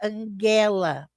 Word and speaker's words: Angela: A soa como A em pai, então é um A aberto. Possivelmente não tem inana, esse an, tá? E soa como E em anel. Então, o E seria. Então, a pronúncia do meu nome seria Angela, porque o E tem som de E.